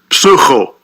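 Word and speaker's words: ψύχω: So let's see how Esau pronounces it. Strong's G 5594. Psucho.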